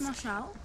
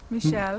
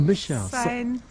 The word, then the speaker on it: Michel: Saint Marcel. What's that? Saint Marshall. Michel. Oh, Michel. Saint Mont Michel. Mont. I don't know. I Saint think- Mont Michel. I think it's Saint Mont Michel.